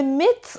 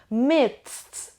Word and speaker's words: midst: On the midst of something means in the middle of something. Midst or midst. این هم میتونه دی تلفظ بشه هم تی تلفظ بشه. جفتش هم درسته.